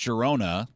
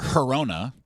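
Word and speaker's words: Girona: You can pronounce it both ways. I was uh I went online after hearing you pronounce this and I was corrected. I I there's obviously two ways to pronounce it.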